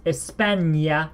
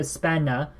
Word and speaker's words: España: 10 yeah españa and notice how the end here has he has the accent it's Espania no spanner Espania Espania SI no NOS